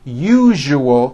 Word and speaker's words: usual: are very very common if you are someone that pronounces the word usual as usual I'm telling you you are not being understood let me show you how to pronounce the word usual correctly break it up into three syllables you you oh that second syllable jus the one with the underline needs to be voiced put your hand